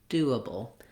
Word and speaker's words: doable: aable we have able doable so staying short and light and using um a reduced vowel in those last two syllables of doable is going to help